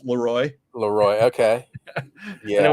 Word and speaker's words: Leroy: We got Leroy, Leroy, which we pronounce Leroy.